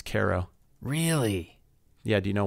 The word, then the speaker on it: Cairo: is spelled see AI ro how would you pronounce that Kairo yeah that's correct but you're wrong it's karo really yeah do you know why no I